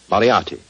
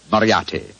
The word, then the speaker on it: Moriarty: I'm afraid I'll have to begin calling it the way it looks. m o r i a r t y Moriarty.